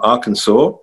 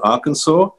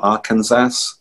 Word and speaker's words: Arkansas: So if we have any teachers from Arkansas, are you impressed by my pronunciation as a Limey of Arkansas, not Arkansas? Arkansas.